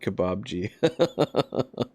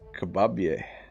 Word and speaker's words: Kebabje: I like that every English speaker pronounces it Kebabji. And Morin says Kebabji is just glowing because he got a new girlfriend. But in Dutch, it's Kebabje. Meaning small kebab.